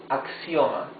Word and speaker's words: axioma: One word would be axioma. Axioma. Axiom, yes? Axioma. Axioma. So, the sound of the X is X, X, same as in English.